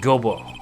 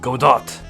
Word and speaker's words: Godot: then uh prosecutor goo it's not Gobo it's Godot y your hanor hanor I